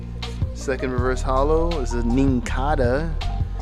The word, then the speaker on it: Nincada: Second reverse hollow is a Nincada. I guess it rhymes with Kinkada.